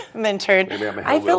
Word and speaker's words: Minturn: I say Minturn. I pronounce the T. Minturn.